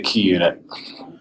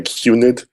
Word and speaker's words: QUnit: Branton name and you already pronounced it correctly sometimes people say qunit but that's not right yeah it came at